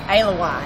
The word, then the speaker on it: Allewine: Oh, well, actually, look, and I don't want to correct you, but it's Allewine. Allewine. When you're Allewine. Can I say Allewine? It's Allewine. Okay. That is how you say it in Georgia.